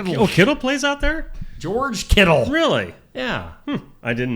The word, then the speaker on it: Kittle: He rhymes with Skittles. Yeah. Oh, is it Oh, KD plays out there. George KD.